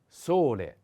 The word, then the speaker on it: sole: a wind the next sole sole the accent is on o solei is a masculine